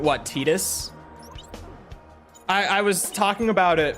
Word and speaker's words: Tidus: I was like, that's just, it's the Kana pronunciation. They just stuck with it for some reason. Tidus is incorrect.